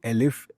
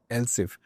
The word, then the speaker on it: elif: Many people would actually say if, elif, else, but this elif actually stands for else if. And in many other languages, this elif is actually else if. They do write else if, not elif. It's up to you whether you want to pronounce it as elif or else if.